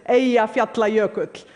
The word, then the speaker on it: Eyjafjallajökull: By the way, the pronunciation is Eyjafjallajökull. None of your media got it right.